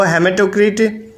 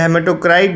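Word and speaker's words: hematocrit: तो हेमेटोक्रिट या हेमेटोक्राइट, जिस सबका प्रोनाउंसिएशन अलग होता है, तो हेमेटोक्रिट पुरुषों में 45% तक होता है, ठीक है।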